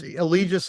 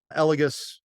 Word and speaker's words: Allegis: Allegis is the US version. Elegis would be the European version.